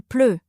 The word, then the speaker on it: pleut: Alors, on dit il pleut ou il va pleuvoir. Attention à la prononciation. Ple.